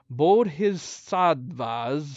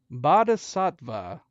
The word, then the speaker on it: Bodhisattva: Deeming this just, the elder agreed, but in the fight, the sage unleashed a vessel like a bodhisattva's severed head. Someone needs to tell me how to pronounce that.